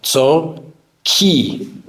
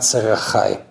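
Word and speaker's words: צרכי: But the Rav Ovadia was specific that the proper way to say this bracha is Tzorki and not Tzarachai, which they're both spelled the same way.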